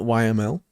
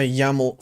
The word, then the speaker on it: YAML: I learned that's pronounced YAML and not YML apparently.